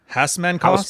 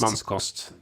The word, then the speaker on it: Hausmannskost: So the Thai food for cutting and the Western German, how do you pronounce that? Hausmannkost? Hausmannskost.